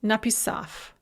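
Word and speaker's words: написав: bread is pronounced clip na pisav the gerund or verbal adverb having written is pronounced napissaf bug god is pronounced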